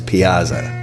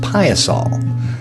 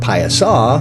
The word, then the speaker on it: Piasa: central Illinois pronounce it in central Illinois that's pronounced pious all that's correct pious all with an L or pious oo with the W take